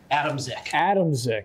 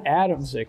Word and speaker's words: Adamczyk: Is it Adamczyk? It's good enough for me. How do you say it? Adamczyk. That's how my dad says it, so that's how I say it. All right, Adamczyk.